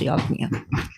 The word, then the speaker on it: Yajna: It's spelled Yajna, but it's pronounced Yagna.